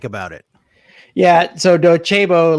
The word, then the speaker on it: Docebo: So Docebo, like you pronounce it like Docido. I mean, you see it like Docebo, but it's really, they're Italian. Yeah. I always called it they're Docebo. Italian, so it's Docebo.